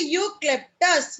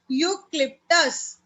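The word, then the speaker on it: eucalyptus: यूक्लिप्टस। यूक्लिप्टस बोलते हैं, ए silent होता है, यू E silent A silent, यूक्लिप्टस।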